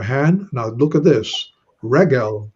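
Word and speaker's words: רֶגֶל: Regel, the segulate noun, notice accented on the first syllable.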